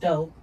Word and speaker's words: DXPE: Pronounced dope spells DX into sound to to create stories and and ambiances that are both empathetic and cinematic.